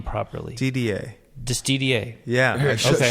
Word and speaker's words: Didier: It's pronounced Didier, as in almost for Americans, the letters DDA.